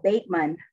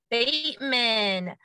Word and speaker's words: Batemon: and i said um how do you say your last name because i was saying the o or the a what's the vowel sound this is with the oh bateman bateman tara bateman i knew